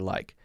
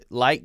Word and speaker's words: like: good you like me i would put more of a k thou there light light me sounds a little too